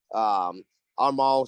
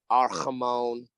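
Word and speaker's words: Amon-Ra: They had Armand St. Brown back. Yeah. Didn't pronounce his name right, butchered it. Fine. So Ramon. Arhamon.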